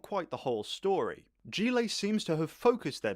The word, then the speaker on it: Gillet: Gillet is a Belgian car I thought I pronounced it Gillette.